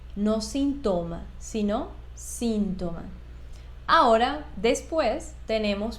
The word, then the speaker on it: síntoma: palabra síntoma Y fíjate muy bien Cómo se pronuncia síntoma no síntoma sino síntoma ahora después tenemos por último la